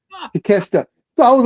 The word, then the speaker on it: Takeshita: look, well, but when you see his name, and I just sounded out phonetically, so to me it just looked like take a shitta, because the Takashita, something like that, Takeshita.